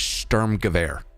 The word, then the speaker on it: Sturmgewehr: I'm like, actually, it's Sturmgewehr.